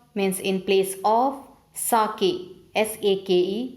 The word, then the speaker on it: sake: Sake, S-A-K-E, pronunciation is sake, a delicious drink in Japan.